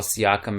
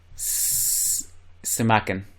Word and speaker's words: Simakan: The guy I'm going to call Siakam again, Simakan.